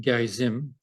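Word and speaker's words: Gerizim: that uh the Samaritans who live on Mount Gary Zim as it's pronounced uh had a second temple there and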